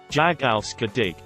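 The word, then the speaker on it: jag älskar dig: love you in swedish jagalska dig i remembered how to pronounce it by saying it as jog race car day for the rest of our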